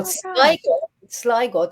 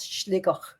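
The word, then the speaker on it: Sligo: Now Siggo, the county of Siggo, the Irish name for it is Schliggo.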